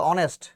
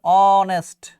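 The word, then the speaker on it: honest: পারতেছো নাকি অনেস্ট ম্যান এখানে কি আছে বলতো অনেস্ট এখানে উচ্চারণটা কি আছে অনেস্ট অনেস্ট তাই না কি আছে বলতো আছে সাউন্ডের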